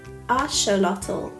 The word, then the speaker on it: axolotl: The name axolotl comes from Nahuatl, pronounced asholotl and combines atl (water) and xolotl, a deity associated with fire and lightning, reflecting their mythical significance in Aztec culture.